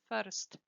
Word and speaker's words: first: See that there is no R sound. It's not first, no R, okay? First. Be careful with this sound, the T at the end, because students tend to swallow it, not to pronounce it.